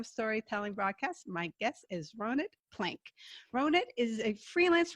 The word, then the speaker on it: Ronit: be here and um i've been trying to get people to pronounce my name right since i was four years old so it's an israeli name because i was raised